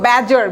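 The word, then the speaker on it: badger: Vax, bother, এটার উচ্চারণটা দেখলেন তো, ব্যাজার, BAD, ডিটা সাইলেন্ট থাকবে, ডিটা উজ্জ্ব থাকবে, ব্যাজার, ব্যাজার, উচ্চারণটা ব্যাজার।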